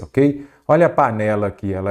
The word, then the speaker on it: panela: lá par né lá qual que é a sílaba tônica panella panela ou panela panela então é a penúltima aí você já sabe